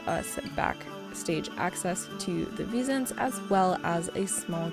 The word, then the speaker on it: Wisents: So Wisents sounds like a hard V sound. The letter V does not exist in a lot of European languages. So it's kind of like a V in vine or Venus, and scent, so Wisent.